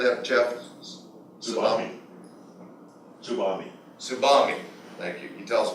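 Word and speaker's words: TSUBAME: Tsubami.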